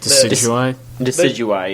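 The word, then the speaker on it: Decidueye: Decidui, yeah. The grass sniper. Yeah, it's like deciduous. Yeah, thank you. Decidui. Yeah. Like the tree.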